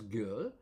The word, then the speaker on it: 给: And it's pronounced as girl, and this is associated with a tenth, for instance.